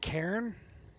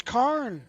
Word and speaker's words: Cairn: It's Karen? I've never listened Yeah. to it pronounce it. Yeah. All right, Karen. I was like, you're the one who calls him carne asada. Like, I thought it was Karn.